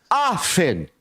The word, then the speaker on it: often: It's pronounced often.